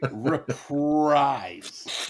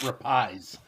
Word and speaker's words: reprise: wrap up the album reprise r p i s e reprise no Fe shaking his head no forgot the r oh the oh the r is silent um no it's not silent it's literally reprise not rapies okay what you got